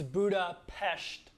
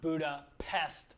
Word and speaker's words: Budapest: a hungarian's bad side it's buddha pesht like sht not buddha pest like an insect one little side note